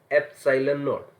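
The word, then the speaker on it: ε₀: और इसको प्रोनाउंस कैसे किया जाता है, एप्सिलॉन नॉट, ठीक है, दिस इज एप्सिलॉन नॉट।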